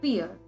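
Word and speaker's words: vier: pore is called as fear in the previous lesson we again learned that v is pronounced as f and i e is pronounced as e which means four is called as fear five is called as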